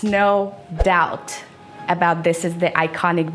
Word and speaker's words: No Doubt: This is the band No Doubt. You can't say dopt, dap, whatever you say. It's no doubt about this is the iconic band.